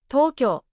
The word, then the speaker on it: とうきょう: For example, koukou, Tokyo. Again, even though U is written, the sound becomes a long O.